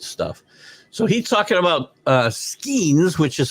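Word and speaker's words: Skenes: So he's talking about Skeens, which is how he told me to pronounce this during the Major League Baseball update.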